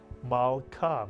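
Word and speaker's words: מלכה: What would the first syllable be? Mal is correct. The shva under the lamed tells you to add the lamed to the preceding letter and vowel, ma, to make the entire syllable mal.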